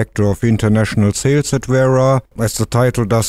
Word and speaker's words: Wera: The correct pronunciation in German, and I'm German, is Wera. I know Anglophile people will normally say Wera because they roll the R, but that's fine with us. But Wera is the correct word.